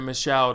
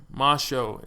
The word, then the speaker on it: Michaud: I would have said Michaud or something like that, but he's got the pronunciation on here. Thank you, my man. Michaud is how you say that.